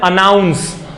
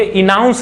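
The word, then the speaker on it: announce: तो हम अपना जो टोन है उसको भी इंप्रूव करते चलेंगे और हम इसको अनाउंस नहीं पढ़ेंगे, इनाउंस नहीं पढ़ेंगे, इसको क्या पढ़ेंगे? अनाउंस पढ़ेंगे। तो अनाउंस एक वर्ब है, इसका मतलब होता है घोषणा करना।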